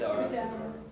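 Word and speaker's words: Vdara: I need help for pronouncing this one, but V D A R A. What's it called? Vidara. The Vidara.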